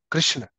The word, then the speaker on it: Krishna: This is the verse where Arjun refers Krishna as Krishna for the first time. So this is the proper pronunciation of Krishna.